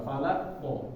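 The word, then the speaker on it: فلق: Jadi ketika masuknya agak sedikit ditekan. Falaq. Falaq. Coba falaqnya dulu ya, ikutin apa? Falaq. Falaq. Ya. Tapi jangan ditahan, jangan direm di akhirnya. Jangan falaq. Nah, ini tahan namanya. Tapi lepas. Falaq.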